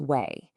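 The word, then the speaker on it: 囗: This part, pronounced way, is probably one of the most straightforward pieces in all of Chinese.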